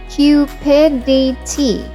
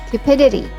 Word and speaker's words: cupidity: It's pronounced as Cupidity, like the word Cupid. Cupidity.